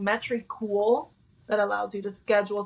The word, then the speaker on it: Metricool: How do you spell that? What's the app? M E M E T R I cool. Metricool.